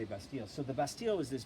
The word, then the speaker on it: Bastille: known as the Bastille actually in French they say Bastide we Americans say Bastille so the Bastille was